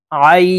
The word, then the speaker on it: ع: আইন। আইন হরফ হালকের মধ্যখান থেকে চাপ দিয়ে উচ্চারণ করব।